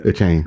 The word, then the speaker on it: Achane: I think he plays with Jalen Waddle and Tyreek Hill and Raheem Mostert and Devin Achane. Is that how you say it? Yeah. Achane, yeah. Yeah, like he plays with